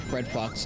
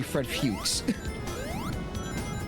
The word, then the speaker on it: Fuchs: is supposed to be Fred Fuchs. Oh, is it? Yeah, that's how the name is supposed to be pronounced.